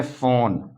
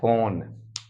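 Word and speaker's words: phone: पी एच ओ एन ई इसको पढ़ते हैं फोन देखो फोन फ ओ ओ का ओ उच्चारण हो रहा है तो ए ओ आई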